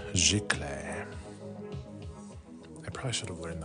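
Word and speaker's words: giclée: And I learned last live, Mr. Phil taught me that this is pronounced gicle.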